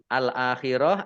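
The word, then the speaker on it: الآخرة: Al akhirah dibaca pendek ya. Waqafnya dibaca pendek karena tidak ada tanda panjangnya.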